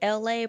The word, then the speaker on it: Elay: It's me, LA, pronounced like LA like the city.